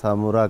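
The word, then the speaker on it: سامراء: اور مزار مبارک اصل تلفظ تو ہے سرہ من رہا، آج کل اسے سامورا کہتے ہیں.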